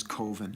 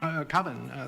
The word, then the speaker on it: Coven: The name of the film is Coven. Coven. Coven, that's the proper pronunciation. No. Coven sounds like oven, man, and that's just, it doesn't work.